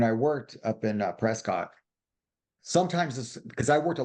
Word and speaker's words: Prescott: And so, but they didn't have an office up in Prescat. They call it Prescuit, but it's really phonetically Prescott, but I would train.